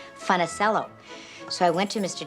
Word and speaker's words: Funicello: change my name because nobody could pronounce funnicello and we didn't even say funnicello then my mom and dad sort of americanized it and pronounced it funnicello so i went to